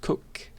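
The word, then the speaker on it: Coq: this one is well it's a french word so it's i guess technically pronounced cook and it's very popular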